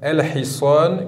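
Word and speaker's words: الحصان: La lettre he, nous avons ici le mot el-hiswan. El-hiswan qui veut dire le cheval. Donc même remarque à chaque fois. Sur le lem, un soukoun, on l'écrit et on le prononce el-hiswan.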